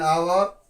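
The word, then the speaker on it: hour: करेंगे an honest an आवर आप कहोगे आवर पढ़ा जा रहा है हां एच के यहां पर ड नहीं होता है साइलेंट में यहां पर आएगा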